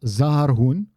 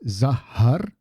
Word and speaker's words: zaharbun: Now, it's not zaharbun because otherwise it would just be one house. It's zaharbun. Again, a little bit of a tiny little pause in between there between those two twin consonants.